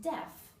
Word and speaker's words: deaf: please again silent a and deaf again silent a um many times I